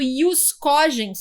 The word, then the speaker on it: ius cogens: O chamado ius cogens, se escreve jus cogens, o ius cogens, aquele direito mais importante, aquelas normas de observância mínima perante a comunidade internacional.